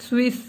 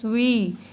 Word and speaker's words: suis: I have not pronounced it Swiss. This is just suis. Last consonant will never be pronounced.